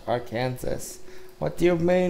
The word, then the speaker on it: Arkansas: The letter S at the end of French words is usually silent, so it's pronounced Arkansas.